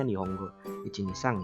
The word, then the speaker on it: Nihongo 123: Akan mengenalkan salah satu website pembelajaran bahasa Jepang yang bernama Nihongo 123 atau mungkin secara pelafalan itu sebenarnya Nihongo Ichinisang ya.